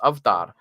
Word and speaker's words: avatar: The word avatar comes from South Asia, and it's pronounced avtar.